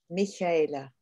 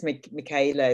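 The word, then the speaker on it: Michaela: you know i mean it's almost impossible for me to pronounce the age correctly so it's mikayla is this fine so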